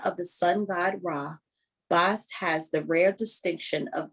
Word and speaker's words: Bast: about bast rem uh rhymes with mast.